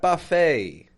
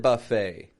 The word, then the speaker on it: buffet: we got we got Buffet we should check out that new salad buffet that open salad buffet notice Buffet check the spelling B U FF T I'm not pronouncing that t on the ending I'm not saying buffet